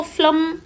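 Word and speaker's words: phlegm: इसको फ्लम आपको प्रोनाउंस करना है।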